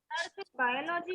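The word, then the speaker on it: biology: अब देखो बायोलॉजी को कैसे प्रोनाउंस करेंगे? बायोलॉजी, बायोलॉजी, बायोलॉजी। वहां पे एक स्क्वा रहेगा लेकिन उसको हम लोग थोड़ा डिफरेंट वे से प्रोनाउंस करेंगे, बायोलॉजी, बायोलॉजी नहीं, बायोलॉजी। I love बायोलॉजी, you know,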